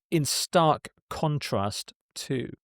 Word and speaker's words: in stark contrast to: And the next phrase is in stark contrast to. In stark contrast to. Stress on contrast here.